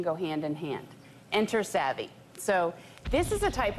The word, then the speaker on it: SAVI: Is that how you pronounce it? SAVI, yes.